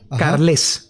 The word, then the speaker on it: Carlés: rivanera con v rivanera carlés con acento en la e Federico rivanera carlés bien